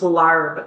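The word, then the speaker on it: Larb: What we have for you today is a dish referred to as Lob, L A B, or in some areas it's pronounced Larv, L A RB.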